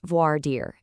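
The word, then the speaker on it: voir dire: It's pronounced voard deir, and it literally means to speak the truth.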